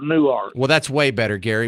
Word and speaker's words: Newark: Well, that's way you that's way you spell it, but I live in Texas, so it's called New Art.